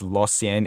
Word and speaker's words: Lausanne: After spending some time in the minors with the Hershey Bears and then being loaned to, I believe it's pronounced Lausanne HC of the NL, still in Switzerland, it's safe to say he won't be ready for any NHL action sometime soon.